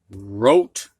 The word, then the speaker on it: wrote: Now we're going to have words with a silent W. And these W's are followed by an R. You can hear the R, but not the W.